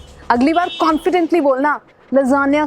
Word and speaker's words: lasagna: Italian word है, मगर इसको क्या बोलते हैं? लजानिया। अगली बार कॉन्फिडेंटली बोलना लजानिया खा के आया हूँ, या फिर वेटर को बोलना मेरे लिए लजानिया।